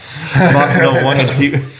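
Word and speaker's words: Mark Nawaqanitawase: Mark Nwanga.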